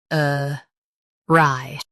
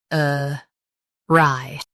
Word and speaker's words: awry: Today, we will learn how to pronounce the word shown on the screen. uh rye Both US and UK have the same pronunciation of this word. uh rye Now, read the syllables shown on the screen naturally.